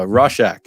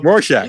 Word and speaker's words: Rorschach: we have okay here's the fifth time uh roshack number five nope no it's not the fifth time is also the there you go rorschach okay if you guys are tuning in i've